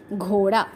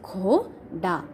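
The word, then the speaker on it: घोड़ा: Ghoda means horse. Gha and da. Okay, gha and da. Gha is having symbol of o and da is having symbol of a. That's why pronounced as ghoda.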